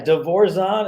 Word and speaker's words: DeVorzon: Yeah, DeVorzon is the proper pronunciation.